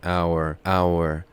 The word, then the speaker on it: hour: H یا H is not pronounced in hour.